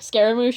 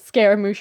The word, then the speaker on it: Scaramouche: or something I'm sorry I keep struggling to pronounce his name even though I I normally pronounce it scar emotion my own time but I don't want to sound stupid so I try to pronounce it says Scaramouche around other people uh but that's off